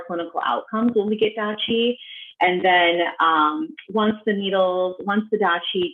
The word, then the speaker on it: deqi: but yeah, then there's something called Dachi, which if patients want to look that up, it's spelled DEQI.